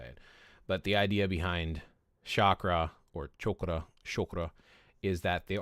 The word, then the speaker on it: chakra: It's not chakra. That's how we say it in the West. If you want to say it that way because that's how Westerners say it. But the idea behind chakra or chakra is that